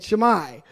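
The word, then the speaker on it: Shimei: so forgive me you can go check my pronunciation after sir shamai that's how you say it shamai right king saul saul's son is show best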